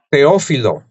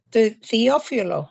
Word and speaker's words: Teófilo: ¿Y cómo se pronuncia esta huerta? Teófilo. Teófilo.